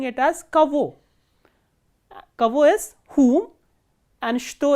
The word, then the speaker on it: кого: And please remember that this ge here is pronounced as v. So instead of pronouncing it as kago, we are pronouncing it as kavo.